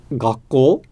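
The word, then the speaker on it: 学校: And so the proper way to say that in Japanese would be gakko, with basically a more or less flat pattern that has an inflection at the end of it.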